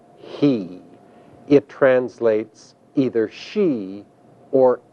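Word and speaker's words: היא: is the one that is pronounced in Hebrew he it translates either she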